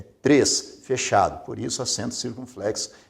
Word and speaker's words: três: Observe que aqui o acento é circunflexo porque a pronúncia é fechada. Veja que você não pronuncia tres, é três, fechado.